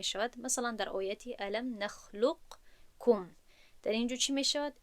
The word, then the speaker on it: نخلقکم: نمیگوییم نخلق کم، نمیگوییم، بلکه لام رو به کاف پیوست میکنیم و قاف در درون کاف گم می شود و ما این رو همچون این شکل تلفظ میکنیم که من در اینجا نوشتم برای واضح شدن. نخلقکم، نخلقکم، کاف، یعنی که با کاف تلفظ میکنیم.